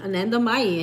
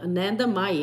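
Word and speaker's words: Anandamayi: think I got it Ananda mayi I had to use like Elementary sounding out the words here in syllables Anna May an Ananda May ma ma ma like mother oh it is says mother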